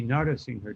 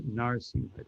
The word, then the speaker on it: Narasingha: You you say all the syllables. Although the last A is very faint. But it would be Narasingha Dev, not Narsingha Dev.